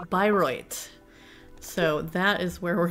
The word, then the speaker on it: Bayreuth: It's German and it's pronounced Bayreuth.